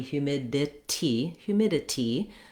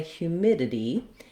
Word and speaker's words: humidity: in this word, are produced as a flap, which means rather than a strong D or a clear T, that would be humidity, that's more the British pronunciation of that suffix. Americans are going to say humidity, and thinking about that as kind of this ditty ending might be useful for you.